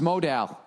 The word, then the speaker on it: modal: No, modal is pronounced modal.